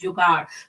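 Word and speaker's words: जुगाड़: At some point in their lives, every Indian has experienced jugaad. Pronounced jugaad, it is a Hindi word about innovation and creativity in all areas of life.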